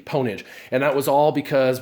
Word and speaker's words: Pwnage: course they call it ponage they actually pronounce the p ponage and that was all